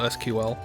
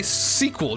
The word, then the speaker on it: SQL: it wasn't just this it's also SQL see look I pronounced it in a way that people actually pay attention um boy okay now I'm gonna say sequel just because you said listening